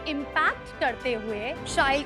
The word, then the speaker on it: Shail: So as you just said, it rhymes with style।